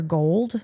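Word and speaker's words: Gould: I think it's Dr. Gold. It's G O U L D.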